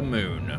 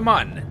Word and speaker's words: Mun: I think the official pronunciation is mun, but people popularly pronounce it as moon, and so I think that's kind of stuck as well. We'll just say that there are 2 accepted pronunciations.